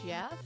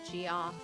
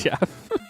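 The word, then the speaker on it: Geoff: it's G EO FF that's how you say Jeff that's not how I say Jeff but that's how the French spell it g e o f pronounced GI off no it's Jeff my ex has a stepbrother named Jeff then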